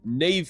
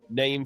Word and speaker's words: Niamh: So, we have Neve Fisher Black, not Nef Fisher Black.